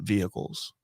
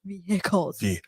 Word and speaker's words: vehicle: use the term investment vehicles have you heard that term you pronounce the h so harshly you're like vehicles how's that is that better yeah okay so investment